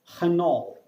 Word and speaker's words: Renault: the, her, which is Renault. That is the right pronunciation of Renault. There is no t sound in French, and R is pronounced as ada ha, ada ka, so it's Renault.